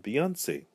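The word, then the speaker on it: Beyoncé: remain the same however the e changes it opens the sound of the e from an earth 10 a long a in English the best most popular example I could come up with was the name for Houston's own Beyonce because she places the acute accent over the e it opens it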